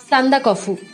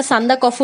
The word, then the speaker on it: সান্দাকফু: সান্দা কফু. হ্যাঁ, যখন স্কুলে প্রথমবার ভূগোল বইতে নামটা পড়ি তখন এই ভুল উচ্চারণটাই করেছিলাম. পরে অবশ্য শিক্ষিকারা ভুল শুধরে দেন যে ওটা সান্দা কফু নয়, সান্দাক ফু.